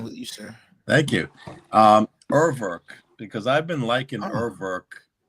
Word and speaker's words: Urwerk: is the German pronunciation of Urwerk, by the way.